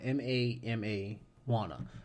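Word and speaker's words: Mamajuana: And it's spelled just like marijuana, but it's Mama, MAMA Juana, right?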